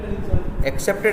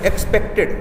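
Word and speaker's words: expected: एक्सेप्टेड नहीं, एक्सपेक्टेड। देखो accept है, एक्सपेक्ट, दो वर्ड बार बार मिलेंगे, इसलिए इनका प्रोनाउंसिएशन जो है वो सही कर लेना।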